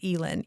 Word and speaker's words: Elin: So our daughter's name is Elin, E-L-I-N. And so some people will say her name is Ellen. And it's like, well, actually, because she has an open syllable, it's pronounced long. So E, and then there's not a consonant there, Lynn. It's pronounced with a long vowel sound, right?